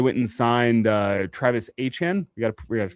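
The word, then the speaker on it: Etienne: Uh they went and signed uh Travis Achan. We got we have to change pronunciation on that. Get that one right. Achan, not Achen. No, no, not not ETN.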